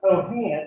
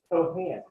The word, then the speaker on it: Cohan: I was told that it's not Daniel Cohan, it's Cohan. So Daniel Cohan, when you meet him, be sure to pronounce it correctly.